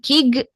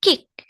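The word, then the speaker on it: 식: Nah, seperti di aturan bacim sebelumnya, giok saat menjadi bacim dia dibacanya K ya. Dibacanya K bukan G. Jadi bukan kig tapi kick.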